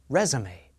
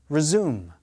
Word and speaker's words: resume: Stress is on the first syllable of the noun, resume. Second syllable of the verb, resume.